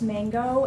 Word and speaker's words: MNG: So the way that it looks on the tag, it's MNG, but it is pronounced mango.